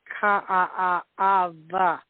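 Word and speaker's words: Kaʻaʻawa: They're V's, like a city would be I lived here, and this place would be Ka'a'ava, even though it's spelled K-A-A-W-A. The W's are V's, So, in speaking Pidgin, mean doing radio in Hawaii and Hawaii.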